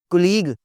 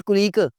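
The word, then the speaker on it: colleague: Data, कुलीग, कुलीग, ओ जी मेरा फलां बंदा जी दफ्तर में मेरा कुलीग है, इट्स नॉट कुलीग, इट्स कॉलीग।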